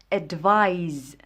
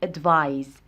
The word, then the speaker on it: advise: اولا من ناحيه النطق، هذه كتنطق اللي فيها السي كنطقوها advice بحال الصوت ديال السي advice. هذه اللي فيها اس كتنطق advise، كتنطق بواحد الصوت ديال زد advise.